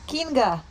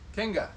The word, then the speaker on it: Kinga: Kinga. Spell it. It's a king with an A. Kinga.